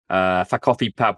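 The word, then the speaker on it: Ffa Coffi Pawb: But if you phonetically say it in Welsh, it sounds like it's saying "fuck off, everybody."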